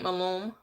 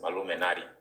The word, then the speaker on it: Maluminati: Hello, Saint Malum. Are you there? Is that how you say it? It's Maluminati.